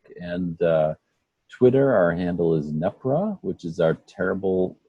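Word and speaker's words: NEPRWA: Our handle is NEPRA, which is our terrible non-pronounceable acronym, which is NEP, as in Peter, RWA.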